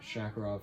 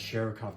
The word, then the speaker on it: Sharikov: Shakarov found, or Sharikov. Yeah, it's Sharikov, not Shakarov. I've been pronouncing it that the entire time because of Call of Duty.